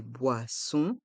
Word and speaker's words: boisson: la carte des vins dans le mot boisson il y a le son on o et n font le son on boisson et le S le dernier s de boisson est mué dans le mot V